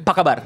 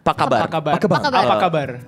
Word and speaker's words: Apa kabar: Apa kabar? Pakaban. Apa kabar?